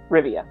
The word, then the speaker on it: Rivia: is geralt of rivia rivia yes i wanted to add an extra syllable in there uh in general he